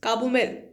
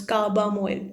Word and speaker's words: carbamoyl: This will come under prefix carbomoyl, or you can pronounce carbamoyl.